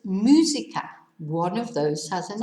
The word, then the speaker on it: música: Whereas musica needs an accent on the U, because otherwise it'd be musica. It'd be slightly different. Okay, so botella no, música sí.